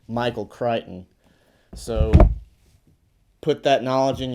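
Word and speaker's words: Michael Crichton: o n so people might perhaps think it's pronounced Michael kton but this juggle is putting you up on some knowledge right now so you won't make the mistake it's Michael kryon so put that knowledge in your brain stem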